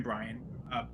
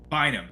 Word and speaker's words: Bynum: I'm going with Cameron Bryan. Cameron. No, say his name right. Bynum.